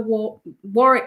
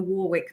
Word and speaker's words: Warwick: Yeah, we're back at the war Melrose. I think you call it the Warwick Melrose, don't you? We pronounce both W's.